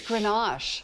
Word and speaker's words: Grenache: It's Grenache. It's Grenache? Yes. Grenache. Say it like you mean it. Grenache. Grenache. I believe, yes, it's French.